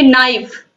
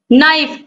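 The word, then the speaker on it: knife: इसको हम पढ़ते क्या, इसका शुद्ध उच्चारण है नाइफ, के क्या है यहां पर, साइलेंट है, के का उच्चारण नहीं हो रहा है, तो नाइफ हो गया।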